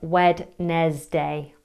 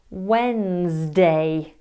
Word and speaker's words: Wednesday: Who said Wednesday? It's an understandable mistake to make. I mean, who made this stuff up? It's pronounced Wednesday. You don't use the D.